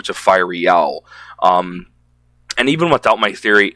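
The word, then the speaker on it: Fireal: But Fiery Owl, and I don't even know what Fiery Owl means, like where the word came from.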